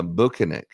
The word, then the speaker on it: Bukhenik: it's actually not it's uh bukinik and he's from Russia oh banic banic is